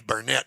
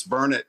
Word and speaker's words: Burnet: on the back because I knew that it was burnard and everybody say says die it's Bernett no it's not Bernett don't say that so I wanted you to clarify that for me well Pat it's good to I'm sorry the big saying here locally is it's burn it darn it learn it that's it well uh